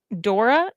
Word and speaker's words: Dore: It's pronounced Dora, yeah.